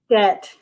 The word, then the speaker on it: debt: It rhymes with bet. It is debt.